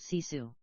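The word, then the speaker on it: sisu: grit and finish is cisu pronounced cisu the translation isn't perfect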